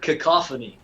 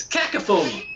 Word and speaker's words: cacophony: But it was taught to me by my mother as cacophony. What's that cacophony? And in my opinion, that's a better, it kind of exudes the meaning of that word a little better, doesn't it? Oh, yeah. Cacophony. Cacophony. But it's wrong.